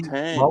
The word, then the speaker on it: LaMontagne: Yeah, Ray Molly LaMontagne. loves. How do you pronounce that name?